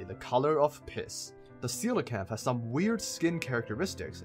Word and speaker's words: coelacanth: how the fish is pronounced I have personally pronounced that Kola camp in the past but it is indeed pronounced coelacanth this ugly bastard will start to have gone